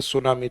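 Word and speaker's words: tsunami: तो इस शब्द को भी वैसे ही लिया जाता है सुनामी। तो टी को काउंट नहीं करके यानी साइलेंट है ये।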